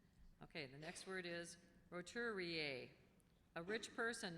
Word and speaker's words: roturier: Okay, the next word is roturier. A rich person not of noble birth, a nouveau rich. Roturier. Any alternate pronunciations?